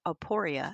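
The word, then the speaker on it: aporia: a state of puzzlement or the Greek word aporeia.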